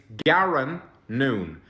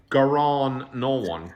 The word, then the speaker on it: Garron Noone: is my real name it's Garin noon not garon no one garon I'm not [ __